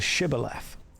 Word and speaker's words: shibboleth: There's an interesting word type called a shibboleth.